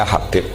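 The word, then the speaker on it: حبيب: Abdurrahman Habib assulami itu di harakatnya kitab itu ada yang nulis hub yang benar ohih yang benar itu bacanya Habib Habib itu asulami itu ikut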